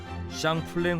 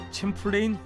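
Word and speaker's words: Champlain: 이 호수는 과거 이곳을 최초로 발견한 프랑스 탐험가 사뮤엘 드 샹플랭의 이름을 따 샹플랭 호수라 불리다가 현재는 미국식 발음인 챔플레인 호수라 불리는 곳인데 2009년 5월 휴가를 맞아 이곳을 찾은 에릭 올센이 아름다운 호수의 풍경을 촬영하던 중 What is that?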